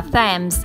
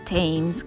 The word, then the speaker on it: Thames: A questo punto siamo andati sul fiume, che si pronuncia Thames e non Thames come noi siamo abituati a pensare, e qui c'erano proprio gli edifici storici.